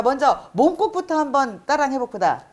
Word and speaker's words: 몸국: 자, 먼저 몸국부터 한번 따라해 봅시다. 자, 발음을 먼저 해주시면. 예, 연습을 하면 예를 들면 몸국을 아까 제도도 모자반국이기 때문에 몸 하지 말고 몸. 이렇게 좀 길게 발음을 해가면 자연히 모험이 어려운 게 아니에요.